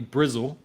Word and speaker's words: Bristol: let's let's swing to Bristol or as it's known here in the UK known locally Brazil people like to not pronounce their T's here um all right okay